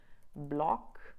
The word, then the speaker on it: bloc: So usually C, R, F, and L do get pronounced when they appear in the end of a word, like for instance, bloc, un bloc. In French, we pronounce the C, or brol, stuff.